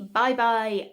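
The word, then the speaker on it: Bybi: Next, we have a Bye Bye Eye Plump Eye Cream. I think it's pronounced bye-bye. It's B-Y-B-I. Don't know if that'll focus on it. No, it won't. Yeah, I think it's bye-bye, B-Y-B-I.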